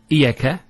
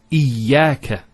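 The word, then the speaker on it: إياك: Notice the ya gets a double vowel because of the shadda there. Iyaka. It's not iyaka. Iyaka.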